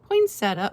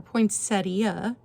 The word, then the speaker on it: poinsettia: number nine for the Finton poinsetta or poinsettia depending on where you're from in the country everyone pronounces this a little different $30 number nine and